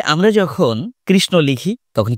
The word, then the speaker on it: কৃষ্ণ: বা উষ্ণ আমরা বলছি কৃষ্ণ বিষ্ণু উষ্ণ কেন বলছি কারণ ওটা প্রকারান্তরে ন ছিল সেই নয় আমরা উচ্চারণ করছি ধন্যবাদ